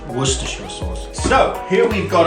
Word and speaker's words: Worcestershire: he say worcestershire sauce although this is spelled were sister shire practice with me if you're not used to saying this it is very easy broken into three sections what stir what stir worcestershire worcestershire sauce so here we've